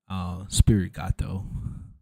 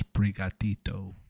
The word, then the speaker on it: Sprigatito: And I always said Spirit Gato. Don't kill me. I legit said Spirit Gato for like 2 years until I realized it was Sprigatito, which is like super Spanish. Sprigatito.